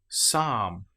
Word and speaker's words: psalm: Psychology psalm. Here we don't pronounce the P at all. We just say pronounce the S sound. Psychology.